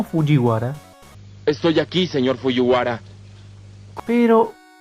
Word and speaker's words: Fujiwara: Después, el apellido de Takumi, que ya será pronunciado como Fujiwara o Fujiyara, ahora se retractaron y lo pronunciaron bien, como Fujiwara.